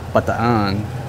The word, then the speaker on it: Bataan: Bataan Peninsula we always we all say Bataan and the Filipinos say but the on its a way I hear them pronounce it but there's a